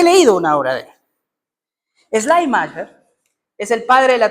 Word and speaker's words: Schleiermacher: Lian, te voy a pedir que me ayudes con la pronunciación. ¿Schleiermacher?